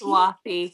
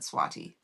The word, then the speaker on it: Swati: Swathy. Swati. Swathy. MH. Goodness. Yeah. Yeah. She told me it was okay if I said swatty. But it is swathy.